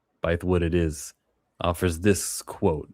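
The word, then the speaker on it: Bythewood: Bywood, it is offers this quote.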